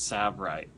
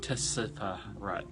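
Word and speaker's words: Tsavorite: to pronounce it it's sab right not Tessa right or whatever you want to call it you don't pronounce the T silent it's like that's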